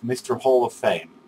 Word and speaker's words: MrHoffame: in January and February I pronounced your nickname I'm totally wrong and feel it very much shamed actually if you don't remember it's I think it's for the better but you can go back to my first videos also but I'm very sorry for uh saying your name wrong and now I'm it is Mr Hall of Fame that is the real deal so far I'm very